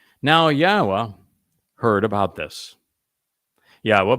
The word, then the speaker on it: Yahweh: yahwa heard about this Yahweh by the way is the proper pronunciation of yod wah Our elah God as